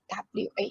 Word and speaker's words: は: be used as however as a particle here it will be pronounced as what wa okay so its main